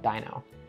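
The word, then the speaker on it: Deino: it's Dino I know a lot of people argue about the pronunciation of this Pokemon but I think the joke or the pun only works if you call it Dino next up is a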